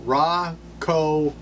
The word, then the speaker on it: Rakau: it they worked out raw Co hops saying it right according to one phonetic spelling yeah all right Regina